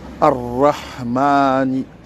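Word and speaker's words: الرحمن: Bismillahi Ar-Rahmani. Ar-Rahmani, c'est avec le ra, bien sûr, avec la langue. C'est pas un ra avec la gorge.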